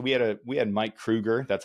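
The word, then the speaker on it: Mike Kroeger: So, we had a we had Mike Krueger.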